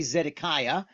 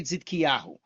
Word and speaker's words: Tzidkiyahu: And I wrote their names above the way I would say them if I were speaking. Like, I'm not going to say Zedekiah, even though that's familiar. I'm going to say Zidkiyahu.